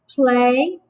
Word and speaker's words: play: let's tap that out the y is the second vowel and it is silent please write and prove